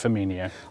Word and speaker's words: Firmino: Trust me, it's Firmino.